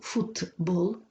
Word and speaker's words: футбол: слів їх вимову транскрипцією фудбол буквочка Т звук д футбол вимовляється приніс ши